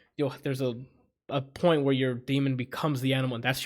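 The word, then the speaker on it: dæmon: It's daemon, but they pronounce it demon because it's European.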